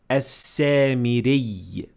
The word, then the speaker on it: السامري: So you pronounce it basically as a doubled ya, and you would say as-samiri.